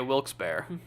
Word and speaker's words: Wilkes-Barre: It's pronounced bear. Okay, Wilkes-Barre. Gotcha.